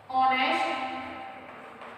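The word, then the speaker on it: honest: एन ई एच टी, यहाँ पर H silent रहता है और हम इसको बोलते हैं ऑनेस्ट। ऑनेस्ट नहीं बोला जाता, क्या बोला जाता है, ऑनेस्ट।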